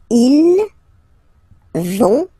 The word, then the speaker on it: ils vont: don't pronounce it, so ils vont, final T, not pronounced.